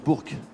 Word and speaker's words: Bourg: tes parents à Bour enbise pour Bour on prononce Bourk il lui je sens qu'il va me reprend